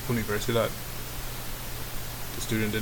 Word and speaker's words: universidad: So for example, number 1, the student was trying to say universidad, but she pronounced it wrong, and the instructor corrected her and said, no, this is how you pronounce it, it's universidad.